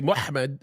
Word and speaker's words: Muhammad: How do you pronounce MHMD in English? Well, you'd say Muhammad, and that's what we would say.